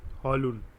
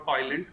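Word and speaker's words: Højlund: Next up, does Ramus Hojlund, that's how you pronounce it, Hojlund, right?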